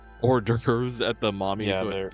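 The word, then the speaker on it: hors d'oeuvres: Horves. Orderves. At the mommy's wedding. Yeah, they're pronounced hoorderves at her wedding.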